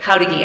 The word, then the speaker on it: Jáuregui: It's like how to geek, he told me, without the K at the end.